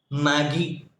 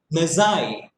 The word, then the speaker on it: Magi: When we read the word magi, usually we pronounce it as Maggie, which we prepare every day and we have it, which is not good for our health. But still, we prepare that. That is Maggie. But this is not Maggie. This is Magi.